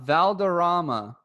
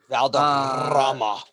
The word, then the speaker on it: Valderrama: The last place he paid for greens fees was out Valderrama, and that's not how you say it because you roll the R's. Valderrama.